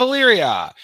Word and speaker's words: Illyria: i'm mispronouncing this huh ghost of illyrio ghost of illyria yes and uh we had